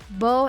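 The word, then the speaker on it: Baume: the middle and symbol Beau and Mercier should be used instead of bow and Mercier whilst speaking in French November 17 IWC Chef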